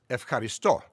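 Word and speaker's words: ευχαριστώ: for thank you is ef caristo the modern greek pronunciation of the verb eucharisto there's a relationship but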